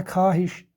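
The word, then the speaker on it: خواہش: जिस तरीके से और एक लफ्ज़ है, मिसाल खा मखा, इसी तरह खाहिश, इसमें वाव साइलेंट रहता है।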